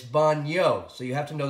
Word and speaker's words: baño: put the tilde over the in we would pronounce it bono but it's baño so you have to know the difference between